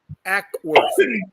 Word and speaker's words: Acworth: Yeah, it's Ackworth. Acworth. Oh, Ackworth.